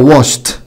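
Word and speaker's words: washed: طيب اذا انتهى بالصوت ده شا، احنا عارفين ان الصوت ده بيجي في حرف الاس اتش شكل واش، واش يعني يغسل، تبقى واشت. الاي مش هتنطق والدي هتنطق تا.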